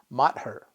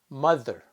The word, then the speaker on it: mother: probably also know we don't pronounce it as mat her that pronunciation is the mother and sometimes the letter makes no sound at